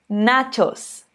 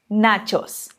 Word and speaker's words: nachos: ou então na shows É como se tivesse um pé antes do CH na Shoes Repita comigo nachos nachos perfeito bom agora que